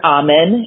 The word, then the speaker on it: Amen: is strange and so it's dr ahman it's his name is spelled like amen like dear jesus amen type and he is un